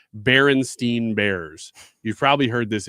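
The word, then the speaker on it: Berenstain: You remember the e because there is no e in it. It's Baron Stain Bears.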